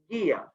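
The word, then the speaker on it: Gaea: Our next one, Gaia, G-A-E-A, pronounced Gaia.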